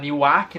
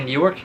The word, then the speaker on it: Newark: Eu sei que muitos de vocês, quando lê o nome Newark, deve provavelmente pronunciar Newark, né? Mas não é assim, é Newark.